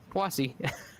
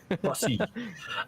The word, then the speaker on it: Poissy: I went to Google Translate and had it pronounce it for me, and it's Poissy. Poissy.